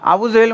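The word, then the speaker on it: أبو جهل: কোন ভুল নাই তারপরে আবু জেহেল আপনার আবু জেহেল বলেন আবু জাহেল বলেন আসলে আরবিতে ওর আসল উচ্চারণ হলো আবু জাহাল কিন্তু আমাদের সমাজে আমরা কি বলি আবু জেহেল তাই না আবু জেহেল বলি তো আবু জাহাল ও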